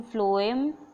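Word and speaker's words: phloem: ठीक है, फ्लोएम से मैं ऐसे रखती हूँ, फ्लोएम और फूड, है ना। इसको भी फा से, हिंदी में फा से प्रोनाउंस करते हैं, और इसको भी फा से। तो फा से फूड और फा से फ्लोएम।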